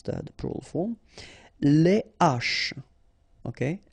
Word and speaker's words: les haches: Les haches, okay, les haches. Okay, so you don't say les haches, but you say les haches.